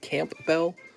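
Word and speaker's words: Campbell: andre hopkins tyson camp bell is pronounced camp bell camp bell soup and gregory rizzo oh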